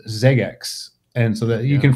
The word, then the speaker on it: Xeggex: but to be clear it's a palindrome and it's spelled x e g gex and that's how and is pronounced Zex and so that you